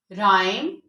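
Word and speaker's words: rhyme: H silent होता है राइम रिदम rhinoceros असस इनमें एच साइलेंट है क्योंकि ये भी आरएच से स्टार्ट हो रही हैं इसके बाद हमारा लास्ट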